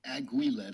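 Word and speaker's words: aiguillette: your shoulder and um auillet, I guess, is the correct or close enough to the correct French pronunciation.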